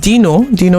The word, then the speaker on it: Deeno: And we have Dino is spelled DEENO, and we have Don Jazzy himself on this particular jam called Waka Waka.